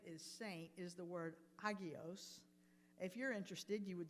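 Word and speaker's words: ἅγιος: The Greek word that is translated as saint is the word hagios. If you're interested, you would spell that Hagios.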